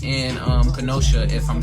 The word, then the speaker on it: Kenosha: Specifically, it's in Kenosha, if I'm saying it right. It's Kenosha.